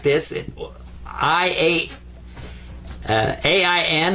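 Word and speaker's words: عين: is a in a you kind of squeeze the back of your throat when you pronounce this one and I I was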